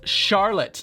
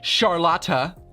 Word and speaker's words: Charlotte: way he pronounced charlotte it's charlotte not charlotta how it's pronounced in german thank you by the